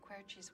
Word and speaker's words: Querci: Did I pronounce it correctly? Yes. Querci?